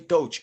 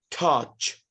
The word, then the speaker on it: touch: okay ER group toach don't say toach and this is for everybody okay you don't pronounce it to it will be touch touch okay to not good